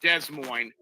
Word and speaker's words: Des Moines: Which is pronounced Des Moines.